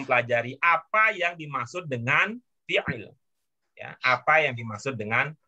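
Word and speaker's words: فعل: Fi'il. Fi'il. Itu huruf tengahnya apa sih? Fi'ala. Gimana bacanya? Gimana? Fi'al. Fi'al. Fi'la. Ingat ya, Fi- itu ain ya. Iya, Ya. fi'il. Ya, Fi'al. jangan sampai berubah jadi hamzah.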